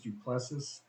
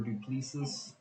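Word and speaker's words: Du Plessis: Brad Tavares versus drikas duplessis uh or duplisas I've heard it pronounced both ways he's an up-and-coming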